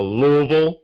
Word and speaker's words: Louisville: the international division to louisville kentucky or louisville as you pronounce it to corporate headquarters for